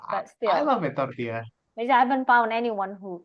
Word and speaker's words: tortilla: So it's not, I think the L is not pronounced. So tortilla.